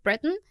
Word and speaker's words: Breton: Francés, que se llama Jules Breton, o como sea que se pronuncie.